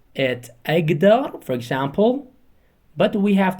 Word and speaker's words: أقدر: For example, we write k, but we have to read them or pronouncing them g. For example, أقدر, أقدر, أقدر, but we have to write them أكتر, أكتر, okay?